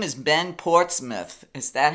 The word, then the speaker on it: Ben Portsmouth: His name is Ben Portsmouth. Is that how you pronounce it? Ben. Yeah, Ben Portsmouth.